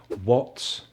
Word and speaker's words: what: So when is the letter H silent? How about these W question words? What, why, where, when, which, and who.